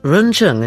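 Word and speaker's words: 人乘: vehicles of teachings one Humanity vehicle pronounced run Chung in Chinese two dewa vehicle three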